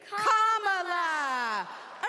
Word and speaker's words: Kamala: do you pronounce it first you say comma like a common sentence then you say la like la la la la la put it together and it's 1 2 three comma all right so let's practice